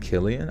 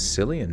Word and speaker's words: Cillian: __ ] Hadi badati oh it's actually pronounced Killian Oh I thought it was silly in Murphy Steve-O when he